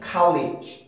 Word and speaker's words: college: 그리고 실제로 원어민들이 college 발음하는 걸 들어보면은 college, 우리나라처럼 그렇게 하는 것보다 college 이렇게 발음하는 사람이 월등히 많거든요.